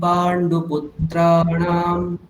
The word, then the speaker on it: পাণ্ডুপুত্রাণাম: পশ্যৈতাম পাণ্ডুপুত্রাণাম, এটুকুই বলুন আগে। পশ্যৈতাং পাণ্ডুপুত্রাণাম। ওখানে তয় আকার দীর্ঘ, পুত্রাণাম ওখানেও তয় রফলা আকার দীর্ঘ, সুতরাং ওদেরকে একটু বেশি সময় দিতে হবে।